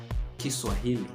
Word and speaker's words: Kiswahili: But if you're looking for fans in languages, I dare you to consider Swahili, natively pronounced as Kiswahili.